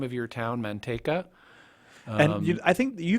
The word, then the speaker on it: Manteca: there but here it's spelled like the Spanish word for lard which is actually a